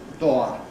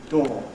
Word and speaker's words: door: It's become absolutely fixed in Japanese classrooms . Well, it reflects an old pronunciation. Nobody says in England nowadays. We say / dɔː /, or at any rate we don't make